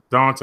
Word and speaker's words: Dante: It's spelled Dante, but it's Dante.